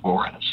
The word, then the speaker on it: Porez: Porez. Spell it for me, bud. Give it a go. P-O-R-E-Z.